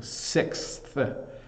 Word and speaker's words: sixth: here to here um to get from the X sound to the th sound so sixth when I try to